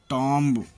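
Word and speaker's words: tomb: कॉम्ब, कंघी, lamb, भेड़ का बच्चा, थंब, अंगूठा, टॉम्ब, मकबरा। टी से पहले आया हुआ बी प्रायः साइलेंट होता है, जैसे डेब्ट, कर्ज, डाउट, शक।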